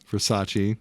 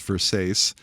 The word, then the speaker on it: Versace: Once again, mispronounces Versace as Versace.